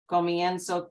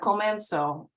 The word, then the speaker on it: comienzo: Comienzo, comienzas, comienzas. It's not comenzo. The E here in the second syllable or second to last becomes IE.